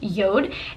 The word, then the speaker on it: JORD: the company is spelled J Ord but it's pronounced Yoda and all of their watches are made from